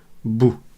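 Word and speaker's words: بُ: Et du coup, la lettre, on va la prononcer bou.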